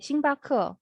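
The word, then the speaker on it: 星巴克: 근데 아무튼 스타벅스도 네, 싱바크 이렇게 스타가 싱이거든요. 바크.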